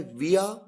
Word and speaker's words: via: VIA जिसे 2 तरीके से प्रोनाउंस किया जाता है, विया या वाया।